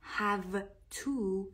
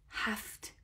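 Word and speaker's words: have to: نکته تلفظی هم داره هو تو هو تو خونده نمیشه هفت ف و ت خونده میشه میشه میشه ی و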